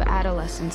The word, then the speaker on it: adolescent: A entonação ali é mais pro começo da palavra. Então, a pronúncia fica adolescent, o lé, né, que seria a parte tônica da pronúncia.